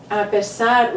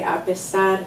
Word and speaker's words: apesar: But apesar, remember here in Portuguese, if there's an S between two vowels, it's pronounced as a Z, and in a previous video, yes, we discussed that.